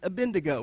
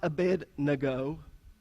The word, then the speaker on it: Abednego: up in Cherokee County it's a bin to go right it's not a bed nago the way it really